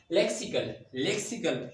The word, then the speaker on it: lexical: There is no z sound. There is sa sound. Lexical.